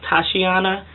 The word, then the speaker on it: Tatiana: self sitting even though I know in Russian is pronounced Tatiana it's still felt like my